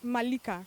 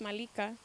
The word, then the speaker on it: Malika: i thought that was the coolest way we'll pronounce it malika yeah it's malika i'm telling you guys the pleasure that i'm